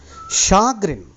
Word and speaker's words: chagrin: prognosticate predict the future shagrin that is the pronunciation Chagrin irritation and disappointment